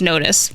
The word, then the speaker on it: Notiz: So it's called Notiz, but it's spelled like Notiz. I was saying Notiz, but it's Notiz.